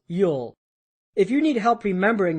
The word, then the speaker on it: ULL: The slow lane strategy is rooted in uncontrollable limited leverage or ULL, pronounced Yule.